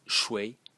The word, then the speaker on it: 誰: Today we pronounce it as shui in Mandarin, but not so long ago, it used to be pronounced as shui in the second tone.